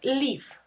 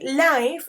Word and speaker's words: live: Danny, be careful with the pronunciation of this word, live, okay? Because if you say life, es vida.